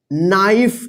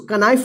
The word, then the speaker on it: knife: देखिए यहां पे KNIFE, इसको क्या पढ़ेंगे, नाइफ। इसको कनाइफ नहीं पढ़िएगा।